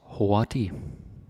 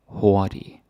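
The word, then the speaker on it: hurtig: fast or quick okay Hy and uh yeah the g is silent you don't say the g you don't sayic the g is silent or mute don't pronounce it okay now what we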